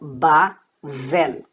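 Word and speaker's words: בבל: B com A, Ba. V com E, Vé. E o L no final, L. Então, Bavel, que vale a Babilônia, Babel e por aí vai, tá?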